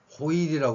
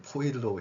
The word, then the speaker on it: 포일: 할 수 있는 겁니다 그다음에 호일이 하는데 포일이 아고 하는 경우는 제가 요즘 못 들어본 거 같아요 발음으로 하는 경우가 있나요 어찌됐건 현재 외래 표에서는 포일로 해야 될 거 같은데 여전히 호일